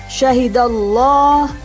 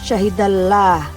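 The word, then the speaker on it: شهد الله: keduanya terdengar bunyi ho-jak di membacanya syahidallah bukan Syahida lelah tapi syahidallah Hai salamulloh Kemudian kapan lamjalalah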